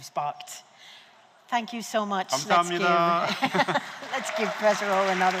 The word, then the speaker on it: 감사합니다: I put some pronunciation here. 감사합니다. Okay, repeat after me. 감사합니다.